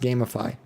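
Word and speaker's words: Gamefy: i think it's gamify it's like g-a-m-e-f-y and i think it's supposed to be pronounced gamify but when it when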